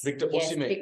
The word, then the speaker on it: Victor Osimhen: Victor Osimhen is how you pronounce his name.